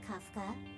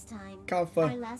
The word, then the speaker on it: Kafka: Very punctual, Kafka. Kafka? Okay. Oh, that's how you pronounce her name.